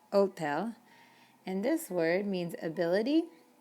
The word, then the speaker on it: hotel: You don't even pronounce the H in Spanish. It is totally invisible. So when we say hola, or another word you'll see later on is hospital. It's hospital, not hospital. Hotel, not hotel, hotel.